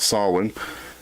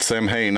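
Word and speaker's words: Samhain: it originated with the Celtic Festival of Solon which is spelled Sam Hayne I don't know why we spell it Sam Hayne if you pronounce it solid do you have any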